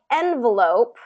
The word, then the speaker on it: envelope: things like envelope okay envelope has adapted it has really taken on more of an american pronunciation so we have first syllable stress envelope and we still get the you know all of the rules that apply with our vowels still still apply here so like with um that second syllable and because it's not the stress syllable then it gets more of a reduced vowel that uh so that